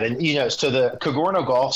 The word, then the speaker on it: Cogorno: you know so the kagoro golf c g o r n o um it's pronounced kind of like a Douro pizza but with a c kagoro golf that way